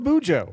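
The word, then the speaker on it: BuJo: the bullet journal but it does rhyme with Cujo boo Joe well so that's all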